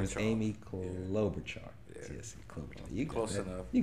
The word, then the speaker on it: Klobuchar: You support Senator, can you pronounce her last name again? Amy Klobuchar. Her name is Amy Klobuchar. Yeah. Yes, Klobuchar.